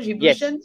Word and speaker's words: Djiboutian: You are also, you're from Djibouti, you're Djiboutian, right? Is that how I pronounce it? Djiboutian?